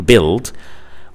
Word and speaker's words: build: Y like in system, UI like in build.